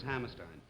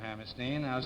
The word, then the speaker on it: Hammerstein: Is it Stein? Is that the way it pronounces? Yes, Stein. Well, it's a great honor to have you here, Mr. Hammerstein.